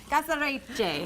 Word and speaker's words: caserecce: You know, you pronounce it right. Tell me again. Caserecce. No. Yeah. Caserecce, almost. Caserecce.